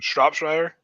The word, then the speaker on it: Shropshire: How's it pronounced? Shropshire?